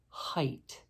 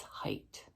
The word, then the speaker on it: height: freight and neighbor but there's one instance where we get a long I sound and that's in the word height so whether W its weight but with an H its height another instance where we get